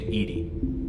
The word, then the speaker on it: EDI: airlock is a jar why are you named Edie Ed is the phonetic pronunciation ation of Ed that is an acronym